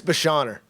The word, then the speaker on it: Beschorner: last name against yeah yeah just like it's spelled I no I'm just kidding um it's Basher Basher yep I was struggling